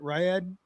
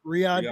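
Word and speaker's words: Riyadh: Uh they were in Riyad, what is it? Ryad. Am I pronouncing it right? Riad, I'm sorry.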